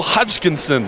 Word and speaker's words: Hodgkinson: pronounce that very well Russell Hodgkinson three syllables very good she's got